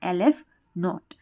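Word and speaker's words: ℵ₀: ये साइन होता है और इसको हम इस तरह से प्रोनाउंस करते हैं lf नॉट।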